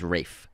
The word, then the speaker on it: Ralph: It's actually pronounced Ralph. It's spelled like Ralph, but it's pronounced Ralph. He has Welsh origins, and so that's the Welsh pronunciation of that word, Ralph. Name. It's Ralph.